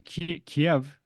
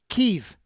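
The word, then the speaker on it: Kyiv: House in ukra um in Kiev as well no no no no no no no it's keev no all all of the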